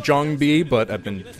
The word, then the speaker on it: JangBi: player fantasy and Jang B which is actually pronounced Jang B but I've been pronouncing it D Jang B for so long that I can't stop now